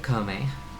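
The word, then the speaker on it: Koume: Have you seen an old hag named Comb who looks just like me?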